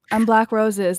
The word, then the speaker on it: Black Roses: Hi, I'm Black Roses. The first B is silent. Please don't say it.